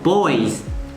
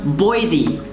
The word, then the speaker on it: Boise: should be pronounced because if i see this with my english mind i'd be like oh boys but it's actually just pronounced boise or in french it's